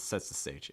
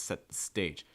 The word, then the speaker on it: set the stage: the stage for something stress stage set the stage make sure for stage you're raising that pitch it's not sets the stage it's set the stage set the stage for